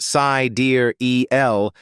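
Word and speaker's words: Sideræl: pronounced sai dear eel l.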